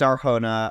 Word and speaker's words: Arjona: Adria Arjona, is that how you pronounce her last name? I think so. Yes, it's Arjona.